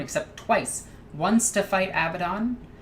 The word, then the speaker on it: Abaddon: Kind of like Ezekiel Abaddon is the actual way you pronounce Abaddon.